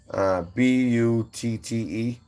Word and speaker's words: Butte: Boot. It's spelled like Buddy or Butte, you know, but I think it's Boot County. Butte.